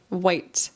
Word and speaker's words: white: like ch instead of pronouncing it with the hard T, white.